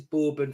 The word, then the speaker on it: Bourbon: I in Bourbon so they're spelled the same but borbon is borbon for the biscuit but it's bourbon for the drink yes but obviously you